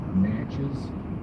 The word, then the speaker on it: Natchez: It's way over there because New location for All Force 1 Carly is going to be Natchez, N-A-T-C-H-E-Z, Mississippi.